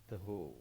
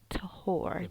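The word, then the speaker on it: טהור: Taho, Taho. Tahor is one. Tahor. taho, It sounds different, not as they're pronouncing the R. So taho instead of tahor, as we in English would say.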